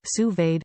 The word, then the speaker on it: sous-vide: menu what to cook sous-vide pronounced sous-vade cooking offers the perfect level